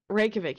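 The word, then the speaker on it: Reykjavík: it I'm American okay Reykjavik you don't pronounce the J thank you thank you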